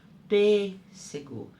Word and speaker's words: pêssego: Pêssego. Tá vendo? Observem, eu fecho a minha boca para falar a sílaba. Pêssego. Então, por isso que nessa sílaba eu uso acento circunflexo.